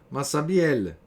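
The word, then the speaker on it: Massabielle: esse pelespe lug é denominado no dialeto da região massabiele é que hoje se pronuncia Mas sabe ela Isto é massa virei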